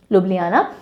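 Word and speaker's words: Ljubljana: कैसे करते हैं इसको ल जुब लजाना नहीं बोलते हैं ओके लुबना जे साइलेंट लु ले आना लब ले आना तो हमने बोला एक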